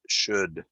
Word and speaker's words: should: I know English is crazy, but that is pronounced should.